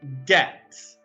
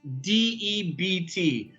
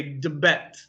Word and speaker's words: debt: this word here debt d-e-b-t now if you'll notice we don't pronounce the b sound we don't say de bet okay uh debt so the b is silent debt debt so i